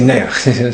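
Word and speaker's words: נח: So how do you say Noach in Yiddish? You say Neach.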